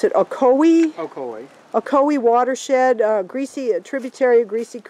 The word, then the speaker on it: Ocoee: We're in the, how do you pronounce it, Ocoee? Ocoee.